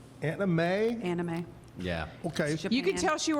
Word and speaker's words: anime: I don't know how to pronounce it. I bet you the boys from, A-N-I-M-E. Anime. Anime?